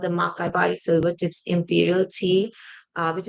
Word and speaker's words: Makaibari: And how do you pronounce that tea? I was looking at the word. Sure. It's called Makai Bari, Okay.